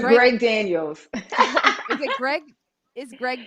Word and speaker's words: Greg Daniels: Zainab Johnson, who is in the show Upload, the Craig McDaniels. Did I say it right? Greg. Greg, Greg Daniels.